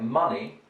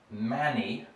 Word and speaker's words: money: type vowel sound um here with words like money funny and honey russians have a tendency to pronounce this as manny and fanny which is not a particularly good word in english and honey something like that right so you don't